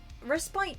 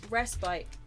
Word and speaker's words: respite: Yes, I mean, no, my point was, I think respite isn't wrong, but the emphasis shouldn't necessarily be on the spite part. Yeah. It should be respite.